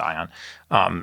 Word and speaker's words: Aion: These guys at Aeon, AION, I think they pronounce it Ion.